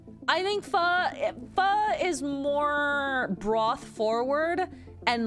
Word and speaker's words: pho: That's why you see a lot of chain restaurants being like pho king or what the pho, is because it's actually pronounced that way.